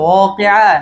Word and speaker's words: واقعة: ইযা ওয়াকাতিল ওয়াকিআ নাকি ইযা ওয়াকাতিল ওয়াকিআ? إذا وقعت الواقعة ওয়াকিআ না ওয়াকিআ? واقعة এই যে ওয়াও উচ্চারণ ক্ষেত্রে আর একটু সতর্ক থাকবেন, কেমন? ওয়ালা আবসারিহিম গিশাওয়া وعلى ولهم